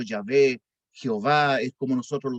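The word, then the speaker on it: Yahvé: en el antiguo testamento son las cuatro les echa y probablemente se haya pronunciado ya ve jehová es como nosotros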